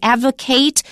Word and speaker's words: advocate: We don't say he's an advocate for this measure. He's an advocate. He advocates for this measure. If it's a verb, we pronounce it ate. If it's a noun, it's ut.